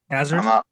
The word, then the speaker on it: Hazard: No, you got it right. Hazard. I'm not like French or anything like that.